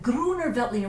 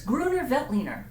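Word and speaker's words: Grüner Veltliner: just love saying that Gruner Veltliner once you get past the whole thing it actually is pronounced just like it looks so I'm putting my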